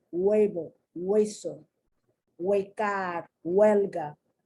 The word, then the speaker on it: huevo: Huele, huevo, hueso, huecar, huelga. Do you notice the beginning of the syllable is that what sound, but the H is there because that's the root of the language, okay?